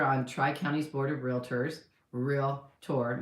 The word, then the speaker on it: Realtor: I'm a director on Tri-County's Board of Realtors, Realtor. Make sure you say it right too. It's Realtor. If you want to be one, you have to know how to say it, okay?